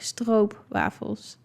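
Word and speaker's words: stroopwafel: So you pronounce like o as in um maybe like what you guys would would say like o a as in boat. It's kind of like o like that like strobe waffles.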